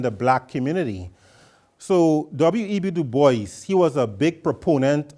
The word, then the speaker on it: Du Bois: Du Bois. In French, it's Dubois, but he pronounced it Du Bois, right?